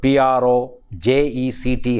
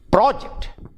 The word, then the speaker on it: project: on the first syllable project whereas if it is used as a verb verb the stress shifts from the first syllable to the second syllable and it becomes project project project and project